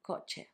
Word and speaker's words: coche: The sound is easy because you've got it in English. It's ch, which makes ch, like in coche, which means car.